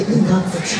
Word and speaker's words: 霊: 荘厳の門に通に言霊、霊と書いてイカズチと呼びますね。